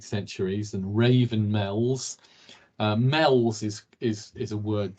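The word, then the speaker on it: Meols: Sand Hills so where we see the word mels around the coastline or meals as some people pronounce it but we're in the Northwest it's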